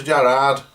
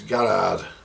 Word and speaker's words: Garrard: And it is a Garrard and not a Jarrard. It's a Garrard. That's how it's pronounced, Garrard.